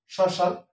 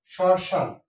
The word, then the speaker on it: শ্মশান: শ্মশান, মফলা যদি কোনো শব্দের আদি বর্ণের সাথে যুক্ত থাকে সে ময়ের উচ্চারণ হয় না, তবে নাসিক হিসেবে এখানে একটা চন্দ্রবিন্দু ব্যবহার করা হবে। শ্মশান, স এর মধ্যে উচ্চারিত তালবস্য, এই জন্য তালবস্য ব্যবহার করে শ্মশান, শ্মশান, নাসিক হবে, শ্মশান ব্যবহার করলাম।